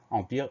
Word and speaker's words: empire: La seule particularité de ce mot, c'est le M, le son en qui s'écrit EM. Empire, EM, PI, RE.